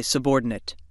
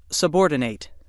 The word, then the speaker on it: subordinate: subordinate now you say subordinate repeat the word let's recap word 17 has two pronunciations when it's used as a verb it's pronounced subordinate when it's used as